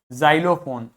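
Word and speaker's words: xylophone: समझ में आ गई इसी प्रकार एक्स को आप जड की तरह से प्रोनाउंस करोगे यदि व एक्स किसी भी शब्द के बिगिनिंग में आता है जैसे जाइलम जाइलोफोन जेनोफोबिया जेनोफोबिया मतलब ऐसे लोगों से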